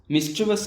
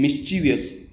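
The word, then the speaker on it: mischievous: काफ़ी ज़्यादा स्टूडेंट इसको गलत प्रोनाउंस करते हैं, इसको कहते हैं मिस्चीवियस। वो गलत है, इसका सही प्रोनाउंसिएशन है मिस्चिवस, मिस्चिवस।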